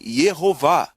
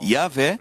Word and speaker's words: Jeová: essa a vogal o Isso significa que o nome deve ser pronunciado na verdade Jeová em seu livro fascinante